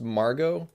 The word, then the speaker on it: Margot: using a font called I assume it's pronounced Margot it's m-a-r-g-o-t-marget um but if you